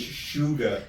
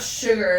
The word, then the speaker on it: Suga: believe his name is Suga like actual it's not sugar like but that's how you pronounce it without the R basically. Suga.